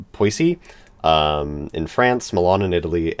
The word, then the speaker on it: Poissy: I'm going to pronounce it wrong, but I think it's pronounced Poissy.